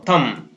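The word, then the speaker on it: thumb: इसी प्रकार थम, THU, TH से थ हो गया, अ और म, थम।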